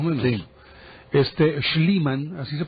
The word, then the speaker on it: Schliemann: Schliemann, así se pronuncia.